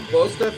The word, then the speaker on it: Bostaph: Is that how you pronounce his name? Paul Bostaph. Yeah, Bostaph.